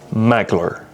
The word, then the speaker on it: Maglr: It's pronounced magler with an L, not an I.